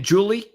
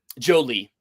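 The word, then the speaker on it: Joly: So, instead of Jolene, it's Jolie. Yeah. But Justin Jolie is somebody that, you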